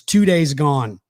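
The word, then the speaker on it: Too Daze Gone: that you want to pay attention to is two days gone and it's spelled t-o-o like two and then days d-a-z-e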